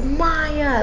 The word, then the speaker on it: Maya: we even perform like the host said my name wrong they say like May someone or something like that and then like um the kids and the audience are like it's Maya like this is really